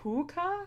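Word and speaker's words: phouka: puka um and then his Irish Incarnation which is it's like puka but pH so with being English it kind of reads as like fuka and then the other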